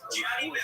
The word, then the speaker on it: Gianni: Gianni. I can't spell that for us. Like Johnny, but. Okay, Johnny.